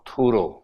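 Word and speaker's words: Thoreau: Person called H डी थरो और थुरो इनकी बस स्पेलिंग चेक करनी होगी। ऐसी कुछ लंबी सी स्पेलिंग है। एच डी थुरो बोलते हैं।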